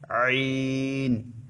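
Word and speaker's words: ع: মাঝখান হতে ওখান থেকে দুইটা অক্ষর উচ্চারিত হয় আইন হা গলাকে একটু চিপে উচ্চারণ করতে হবে আইন হা আইন হা এভাবে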